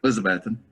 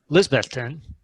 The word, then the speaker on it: Elizabethton: you based out of Elizabethton? Elizabethan. Okay, sorry, Yeah. I pronounced it wrong yet again. Lisbethton. That's better. Lisbethton. Still wrong? There's no E in Elizabethan.